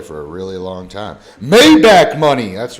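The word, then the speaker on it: Maybach: Mayback money.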